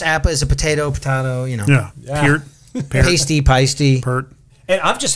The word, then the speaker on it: Peart: Nobody can pronounce his last name. Is it, it's Appa, is it Potato, Peart.